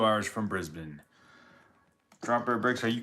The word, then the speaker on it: Brisbane: I'm 2 hours from Brisbane. You say Americans would say Brisbane, but I've heard Australians say Brisbane. So, hopefully I'm saying it right, Drop Bear Bricks.